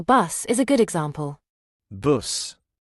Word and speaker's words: buss: Buss. Buss.